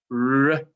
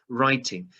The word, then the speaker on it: writing: This silent W. So we'll just ignore that. Writting, maybe not writting. Maybe that's an I being slightly naughty there. Writing.